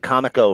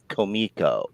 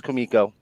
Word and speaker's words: Comico: artist on Elementals and I was calling it Comico for like 10 minutes and he said he stops he goes komiko and I was never more embarrassed in my life what if he was just fucking with me I've heard it since Bill Willingham agreed he says Kumiko he said it was kamiko well Bill Willingham agreed